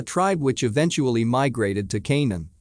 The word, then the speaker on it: Canaan: which eventually migrated to canaan pronounced conan with the k sound of the serpents a